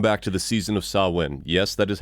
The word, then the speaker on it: Samhain: Welcome back to the season of Samhain. Yes, that is how you pronounce that.